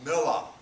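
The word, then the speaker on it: Miller: other i go by mila it's spelled m-i-l-l-e-r but since i'm from the south it's pronounced m-i-l-l-a-h voila and john does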